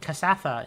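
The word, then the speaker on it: Kasatha: Uh, and there is a cassafa inside.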